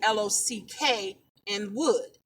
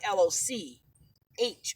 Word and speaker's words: Lockwood: If you see something that says like Lockwood, is actually Lock and wood, and not like LOCH, or it's just what it is.